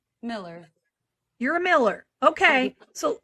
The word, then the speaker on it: Millar: get so you're really Miller okay even though there's an a my maiden name is